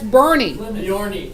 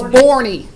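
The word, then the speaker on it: Boerne: That town up I-10 that's spelled B-O-E-R-N-E. That's Bernie. And most people pronounce, the first time I saw it, I thought it was Borny or something. But it's Bernie because it's German. In German, when you have two vowels together, you say the second one, not the first one.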